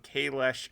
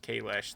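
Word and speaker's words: Kahless: actual pronunciation for Klingon, Kalesh should be pronounced Kalesh. They just pronounced it wrong in the 90s. It is Kalesh. The S has a sh sound.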